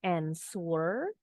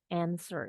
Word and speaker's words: answer: long sword is answer bacanya bukan answer tapi answer ini kesalahan paling sering nih orang Indonesia bacanya answer Begitu juga dengan